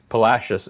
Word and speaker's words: Palacios: Palacios is correct, but we all know what you mean.